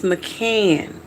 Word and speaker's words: McCann: Spell it or say your last name. My last name is McCann.